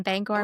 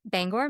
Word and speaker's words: Bangor: Now Mount Hope Cemetery in Bangor, Maine, I think it's Bangor. It's spelled B A N G O R. That sounds right. So if it wasn't Bangor and it's like Banger, like it should be an E, but I don't know.